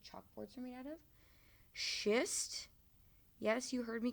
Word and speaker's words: schist: Schist. Yes, you heard me correctly. Sounds a lot like a word you shouldn't use.